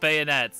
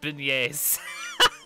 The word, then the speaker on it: beignets: um let's see beignets oh it's not bayonets it's beignets i'm so good at